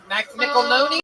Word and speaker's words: McElhone: McElhoney? McElhoney? McElhone. McElhone. It rhymes with tackle zone.